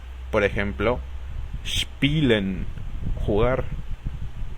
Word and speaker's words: spielen: La combinación de letras SP suena SHP y la combinación ST suena SHT. Por ejemplo, spielen, jugar, o Stuhl, que significa silla.